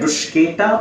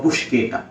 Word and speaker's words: bruschetta: So which one do you like, bruschetta or buschetta? You have to find out your pronunciation, which one you like.